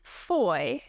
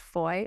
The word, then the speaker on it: Fahie: His name is Von Foy, but it's spelled F A H I E. So he even spelled it out. He's like pronounced Foy.